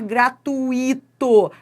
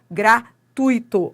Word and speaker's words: gratuito: Nada de falar gratuito. A pronúncia correta é gratuito. Ó, presta atenção, vou separar aqui para você, ó.